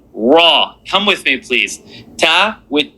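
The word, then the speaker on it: ت: Now the name of this letter is ta. The sound that it makes, t, the accent on the bottom, in, tin, tin, tin.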